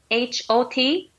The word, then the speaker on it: hot: And also H-O-T, hotto. Mm-hmm. Hotto. But, yeah. You know, in American English, people pronounce it hot. It's so almost hot. Like an A, yeah, hot.